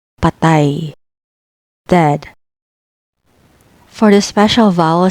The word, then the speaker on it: patay: Real, patay, patay, patay, dead.